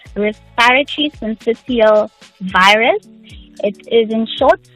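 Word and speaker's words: syncytial: virus what is that and am I even pronouncing it correctly you've said it correctly VG so it's respiratory sensial virus it is in short RSV it's one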